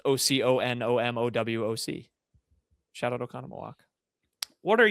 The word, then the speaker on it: Oconomowoc: Oconomowoc. Oconomowoc. It's there's an M. I didn't see that. It's actually really easy to spell because every other letter is an O. It's OCONOMOWOC.